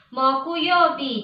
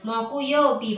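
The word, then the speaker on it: 木曜日: Moku yobi. Jadi kita menulis hari Kamis. Itu kanjinya pohon, kemudian kanjinya yo, ditambah kanjinya bi, kanjinya matahari tadi. Moku yobi bacanya.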